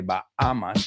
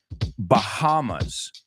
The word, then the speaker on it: Bahamas: We don't say Bahamas. La H no es muda. We say Bahamas.